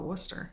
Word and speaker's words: Worcester: How do you say it? Well, we just call it Worcester.